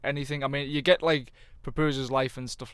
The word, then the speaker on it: Papusza: It's basically Papusza. It's Papusha, isn't Papusha, it? Papusha, yeah.